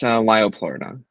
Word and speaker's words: Liopleurodon: and The Hunt for the, how do you pronounce this, Liopleurodon? Yes, Liopleurodon.